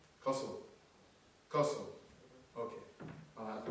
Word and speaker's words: Qosil: Qosil, I was told, and correct my pronunciation. Am I saying it right? It means connected. It's a Kazakh word. But is it Qosil? Is it Qosil? How am I supposed to say it? Qosil.